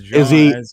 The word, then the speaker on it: Jean: I always call him Gene. Yeah, everyone calls him Gene. I mean, but he's from Quebec, so it's Jean.